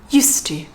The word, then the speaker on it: used to: is part of a set phrase which is used to used to if you look at the spelling